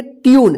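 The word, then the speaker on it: tune: जून में मत पढ़िए टी यू एन ई इस क्या पढ़ेंगे ट्यून देखिए यू यू आया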